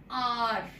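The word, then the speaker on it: hour: So now here, remember this r here, h is silent, although it is a consonant alphabet, but still the sound is not coming, it is silent, so it is pronounced as r, r.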